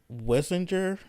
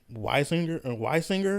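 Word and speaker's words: Wissinger: This was done by a paper done by Elizabeth Wessinger. I think that's Weisinger. Yeah, Weisinger. That's how you pronounce it.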